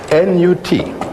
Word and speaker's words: Nut: N-U-T. Pronounced Nut.